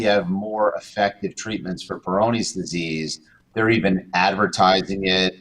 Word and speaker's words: Peyronie's: say suffered from it he did mentally uh peyronie's disease perfect is that how it's pronounced yes it's uh p-e-y-r-o-n-i-e-s i guess apostrophe s peyronie's disease is it